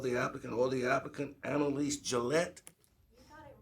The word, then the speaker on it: Annalise Gillette: Chair would like to acknowledge the following here representatives of the applicant or the applicant, Annalise Gillette. You got it right. Most people don't pronounce my name correctly.